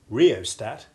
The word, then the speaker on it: rheostat: English and we simply treat the H as being virtually silent. Listen to the following examples. Rhythm, rheostat, rheumatism.